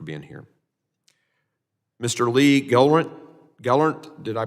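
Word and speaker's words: Gelernt: thank you for being here Mr Lee Gant Gant did I pronounce that correctly L sir thank yes thank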